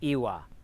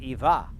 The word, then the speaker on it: iva: It's the only language I'm aware of where yes is a 2-syllable word. It's Iwa. But on the main, it's Iwa on the main island, but on like Gozo, it's Iva.